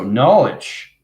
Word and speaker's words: knowledge: the knowledge okay so knowledge because the k is silent okay it represents kundalini at